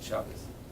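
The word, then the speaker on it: Shabbos: Shabbat chabas and chabas you pronounce it chabas in yish she would remind us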